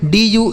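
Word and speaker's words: due: blue C एल यू ई इसे पढ़ेंगे दोस्तों clue C एल यू E clue are यू ई इसे पढ़ेंगे रू ठीक है डी यू ई इसे पढ़ेंगे ड्यू ठीक है इसे पढ़ा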